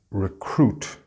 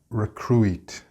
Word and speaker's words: recruit: And then we have this word, important if you work in human resources, and it's recruit, not recruit.